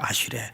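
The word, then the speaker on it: אַשְׁרֵי: 아슈레. 한번 따라서 해볼까요? 아슈레. 예, 듣고 온 분들이 계셔서 그런지 아주 발음이 정확합니다.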